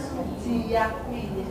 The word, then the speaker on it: Suji Jatmi: Kalau dulu namanya Suji, tulisannya Suji Jatmi, Bapak. Tapi bacanya Suji Yakmi.